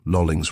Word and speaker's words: Lolling: I relieved Police Constable Lolling at about 8 p.m, and he informed me of the incident. He accented the second syllable.